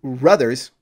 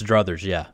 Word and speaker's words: druthers: if he had his ruthers, isn't that how you say it? If he had in Kentucky, it's druthers, Yeah, if he had his druthers, he wouldn't write at all.